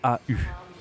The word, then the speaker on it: au: vais au restaurant d'accord au ça se dit au d'accord ça s'écrit a u bon tu as le